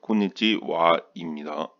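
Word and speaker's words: こんにちは: 그래서 이건 콘니치하라고 쓰지만 콘니치와입니다.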